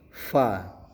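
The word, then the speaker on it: ف: Kemudian huruf selanjutnya adalah huruf fa. fa. Nah, ini mendesis ya dalam hukum tajwid dinamakan tafassis yaitu fa menggunakan huruf F bukan menggunakan huruf P. Jadi tidak dibaca pa tapi dibacanya fa ya.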